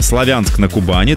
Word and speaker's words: Славянск-на-Кубани: Здравствуйте сотрудникам о Националь города Славянск на славянск-на-кубани так он правильно произносится разградил Здравствуйте прошу Сашу